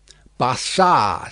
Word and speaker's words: Barsad: "Bassard," said Defarge, making it French by pronunciation. But he had been so careful to get it accurately that he then spelt it with perfect correctness. "Barsad," repeated Madame.